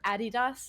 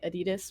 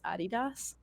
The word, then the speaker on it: adidas: but uh they're sponsored by um adidas or adidas is apparently the correct way to say it uh in america we say adidas but it's actually supposed to be pronounced adidas so uh i get a lot of stuff